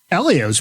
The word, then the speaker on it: Helio: Elio's probably close to Tony's age, too. isn't They're right around. They grew up racing go-karts against each other. We've all agreed on common pronunciation of Elio, not Helio.